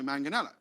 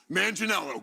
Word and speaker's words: Manganella: pretty easy to me it's just manganella yes that's it yeah who has butchered